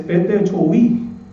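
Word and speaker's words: πτωχοί: En el griego, hermanos, bíblicamente en el griego, hermanos, la palabra pobre es un poquito difícil de pronunciar, es petechoi.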